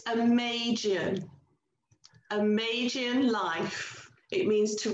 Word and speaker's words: Amagian: I can't even spell it. What? So, Lynn, tell us more. It's Amagian.